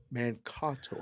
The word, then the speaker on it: Mankato: Mankato. I just got a text. That's how it's pronounced.